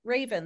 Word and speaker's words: Rayvan: Yeah, it sounds like the bird, but it's spelled totally different, but it is pronounced like Rayvan the bird.